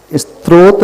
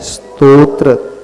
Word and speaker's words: स्तोत्र: उच्चारण स्त्रोत और स्त्रोत्र स्त्रोत में स के बाद त्र है फिर ओ की मात्रा है फिर त है और स्त्रोत्र में आधे स के बाद तो है फिर त्र है तो सही क्या है? स्तोत्र स्तोत्र स्त्रोत नहीं पहले त फिर त्र